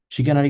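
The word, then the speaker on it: chicanery: শিকানারি কিন্তু CHI, হ্যাঁ, চিকেন আর শি, বাট এটা উচ্চারণটা শি।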